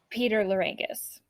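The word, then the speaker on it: Peter Lerangis: Peter Larangis. Good for you, Peter. That's how you pronounce it.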